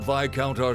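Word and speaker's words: Viscount: let me welcome you to Le Graham I'm VI counter said the ruling Lord here oh it's pronounced VI count okay well I guess now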